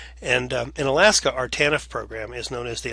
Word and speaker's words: TANF: Families, or TANF is how the TANF is pronounced, TANF. And in Alaska, our TANF program is known as the Alaska Temporary Assistance Program, or ATAP, and you may have heard of that program.